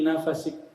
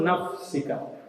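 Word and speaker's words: نفسك: Beberapa sarjana membacanya sebagai "fi nafasik." Dalam tarikan napasmu, yang disebut "dhikr anfas." Keduanya benar, ya. Namun menurut bacaan Al-Quran , yang benar adalah "nafsika ".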